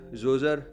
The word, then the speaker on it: Djoser: English में इस बादशाह का नाम लिखते वक्त पहले डी भी लिखा जाता है लेकिन डी साइलेंट है, इसीलिए तमाम लोग इसे किंग जोज़र बोलते हैं।